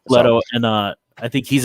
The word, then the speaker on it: Leto: to do something with leto and uh orlito i don't know however you're pronouncing it it's leto it's leto and uh i think